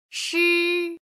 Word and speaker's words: shi: she this syllable is pronounced as a whole don't try to spell it she she she she